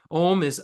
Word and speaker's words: Om: Om has three syllables: A U Ma.